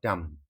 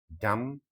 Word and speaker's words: dumb: blind, mute, deaf, or dumb. It's deaf. Deaf cannot hear. The next question is, one who cannot speak is called deaf, blind, dumb, lame. Yes, it's dumb. Dumb. B is silent.